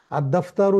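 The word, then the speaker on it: الدَّفْتَرُ: আর দফতারু জাদিদুন, দফতার মানে খাতা, খাতাটি নতুন, এখানেও কিন্তু আলিফ লাম উচ্চারিত হয়নি।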